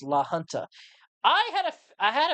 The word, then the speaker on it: La Junta: says uh by the way the John says pronounced La Junta I had a I had a feeling that